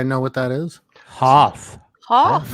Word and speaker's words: Hoth: Hoth?